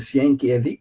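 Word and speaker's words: Sienkiewicz: Sinevit, inclusive um nome meio complicado de dizer, o pessoal chama ele de Senkevic, né, pelo jeito que se fala.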